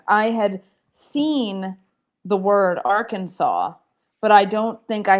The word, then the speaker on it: Arkansas: I gave the answer, but I said, "Or Kansas."